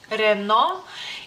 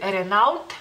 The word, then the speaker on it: Renault: que anoté aquí para los litones sería reno y aquí he escuchado a la gente decir Renault Renault A lo mejor ustedes